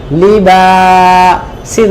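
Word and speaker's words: لباسا: মাশাল্লাহ লামের কি বলব বা আলিফ জবর এটা মাই টানতে হবে একসাথে কি হল লিবা সিন জবর ছা একসাথে বললে লিবাসা কি উচ্চারণ লিবাসা আরেকবার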